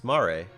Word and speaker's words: mare: of the wall tough mario is derived from the italian word for sea pronounced mare it's maare that's italian del mar that's spanish